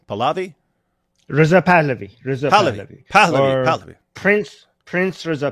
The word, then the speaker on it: Pahlavi: How do you pronounce that name? Pahlavi?